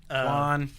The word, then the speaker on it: Quann: Quann. Quann. Quann. I was like, I knew it had Qualla. a Q, a qua. Yeah. Where did it come from? It's Quann.